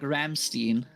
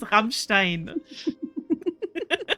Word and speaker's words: Rammstein: It's also funny when like some people try to pronounce Rammstein, you know? Yeah, true. They say like Ramstein. Ramstein, always Ramstein. It is Rammstein. Yeah, it's double M.